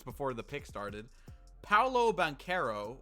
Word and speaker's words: Banchero: pick started paulo bankero or as some people call him banchero i guess i think it pronounced bancaro though because that's what they were saying the whole draft night um yeah it is that's what the pronunciation says to orlando a very